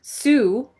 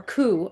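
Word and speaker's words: Cú: This guy Sue or Coup, I'm sorry. His is pronounced coup.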